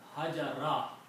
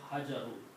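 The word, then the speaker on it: الحجر: So this noun will be hajara instead of hajaru because of the word strike. Okay? If it's separately, it is al-hajar. Okay? But when it comes after a verb, then its sound becomes fatha sound.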